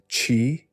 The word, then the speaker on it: qi: It brings the very essence of life itself, the mysterious force the Chinese call qi, pronounced qi, the vital energy that animates all existence.